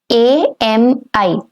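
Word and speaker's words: amie: A-M-I. Ami. And for a female friend, it's going to be ami with the same pronunciation but with an extra E to it. Ami.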